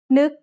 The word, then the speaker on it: นึก: นึก has an initial low-class consonant and a final stop that makes it a dead syllable, plus a short vowel that makes it a high tone.